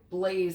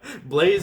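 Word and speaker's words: Blaise: good name like but depends how you spell it like if it's b l a i s e i'm on board like because it's it's it's kind of french i would have gone like blaze like bla city that one's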